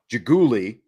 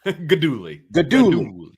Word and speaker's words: Guidugli: know they announced Geno jiggly why do I keep saying it wrong now good Dooley yes good Dooley yeah what do I